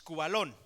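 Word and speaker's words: σκύβαλον: viene del griego cubalón así ese K acento en la u b de burro a L o n es cubalón Qué significa lo que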